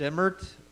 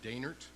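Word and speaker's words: Dehnert: thank you our next speaker is emmert vice mayor of Clarkdale probably not pronouncing it correctly Thank You mr. vice chairman my name is de nert spelled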